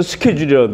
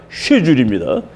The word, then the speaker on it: schedule: 미국에서는 스케줄이라고 해요. SCHEDUL이 according to our schedule. 그러면 이제 우리의 계획에 의하면은 스케줄이라는 말을 많이 쓰는 거라. 그랬더니 처칠이 화가 났어요. 영국에서는 스케줄이 아니라 쉐줄입니다. 스펠링은 똑같은데 K자가 없어요.